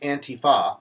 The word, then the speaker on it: Antifa: So anybody who is against Antifa, by the way, that's how you say it, it is pro-democracy, pro-liberty, pro-freedom.